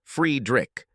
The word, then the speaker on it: Friedrich: He preferred his name to be pronounced Friedrich.